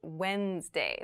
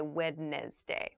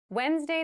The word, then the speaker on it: Wednesday: of the week but keep in mind this is pronounced Wednesday There's a d there but we don't say witness day we say Wednesday the 18th Wednesday the